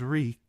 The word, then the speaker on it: Reek: "My name is Reek. It rhymes with bleak."